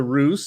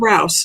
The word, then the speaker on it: Rouse: uh uh dr russ let me know if i am saying your last name wrong because this is what i am infamous for it is rouse not roosevelt dr rouse thank